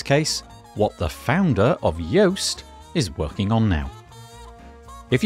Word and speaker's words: Yoast: of the guest today yoast same pronunciation different spelling we talk about how